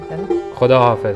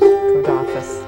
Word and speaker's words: Khuda Hafiz: Khuda Hafiz. Khuda Hafiz.